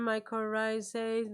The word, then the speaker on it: mycorrhizae: that in this forum everybody uses the term mycorrhizae they pronounce it properly Nobody messes it up no